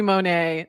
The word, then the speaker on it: Monet: And then call me Monet. The T is silent.